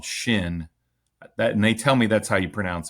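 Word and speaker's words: Chêne: a a um water foul specific company called Shin that and they tell me that's how you pronounce it.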